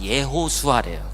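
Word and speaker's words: ישוע: 우리나라 말로 하면 히브리 말로 하면 예수아래요. 그죠? 발음으로 하면.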